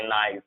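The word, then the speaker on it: knight: एन से before जब भी के होगा, एन से बिफोर जब भी के होगा 100% के साइलेंट होगा। जैसे इसे हम पढ़ेंगे नाइट, नाइट, not, knowledge, no, knee, knock, NEET.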